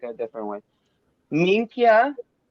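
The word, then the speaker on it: minchia: Minkia. Mikia? So it looks like min, okay, and Kia. So Minkia.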